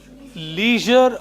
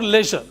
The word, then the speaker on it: leisure: This is leisure or leisure, both.